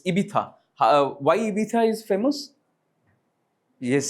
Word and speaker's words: Ibiza: It's not Ibiza. It's Ibiza. Why Ibiza is famous? Yes, somebody gesture. It's like, again, it's a nightlife. Like Ibiza, people go to Ibiza for vacationing.